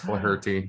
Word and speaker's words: Flaherty: It's pronounced Flaherty. He's like, Andrew, you got it right. It's Flaherty. Yeah.